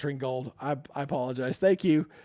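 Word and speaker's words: Ringgold: Ringold. Yes, it is pronounced Ringold.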